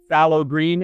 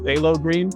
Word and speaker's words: phthalo green: recent song that I wrote is literally called phow green and then I realized that it's actually pronounced phthalo green so it's literally inspired by the color I